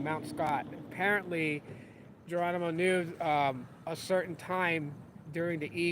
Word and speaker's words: Geronimo: prison that they use to detain and hold Geronimo, that's how it's pronounced in English, Geronimo. You want to go with the accent.